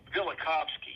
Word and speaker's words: Velikovsky: Velikovsky, yes. Yes. Uh yeah, I haven't visited his ideas in many and many a year, but I was years ago half a lifetime ago interested in Velikovsky.